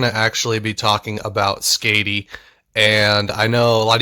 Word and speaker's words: Skadi: I could be, but that's how you say it in Norse mythology, so we're going to say Skady just for the sake of having it sound like the Norse goddess.